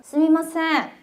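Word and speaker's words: すみません: 스미마생 한번 될까요? 스미마생 발음이 좀 불편할 때러면 스이마생이라고 해도 돼요. 미 대신 이로 발음해도 되거든요. 일본인들 요거 둘 다 씁니다.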